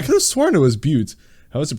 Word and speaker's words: Butte: Big Butts right right is it pronounced but yeah I almost thought it was pronounced differently no disputes I was right oh it's beaut well in any case